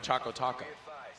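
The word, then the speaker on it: ChocoTaco: oh oh yes choco choco taco oh it's supposed to rhyme yeah it's got a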